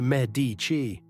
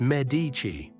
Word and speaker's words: Medici: You say Medici. In Florence, it's Medici.